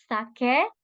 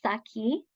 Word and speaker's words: sake: It's sake, not saki. So please, if there's one thing to take away tonight, or today, for you in Japan, it's how to pronounce sake, not saki, right?